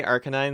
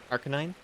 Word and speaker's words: Arcanine: You say Arcanine like Arcane Canine? Yes. Those little mages. Those little mages. Is that not the usual? Arcanine?